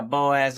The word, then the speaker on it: Boaz: grew up in BO Boaz is that how you pronounce it yeah Boaz Alabama I I was born